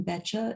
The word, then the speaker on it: Beccia: well yeah um it's just my name betcha it's spelled dot com and there you